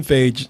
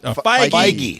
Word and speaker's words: Feige: Kevin Feige. It's Kevin Feige. They're okay. Yeah, you were pronouncing like it was yogurt.